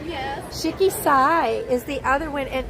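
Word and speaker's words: Shiki-Sai: And the other one, how do you pronounce this? Shiki Sai? Yes. Shiki Sai is the other one, and it's a sushi restaurant.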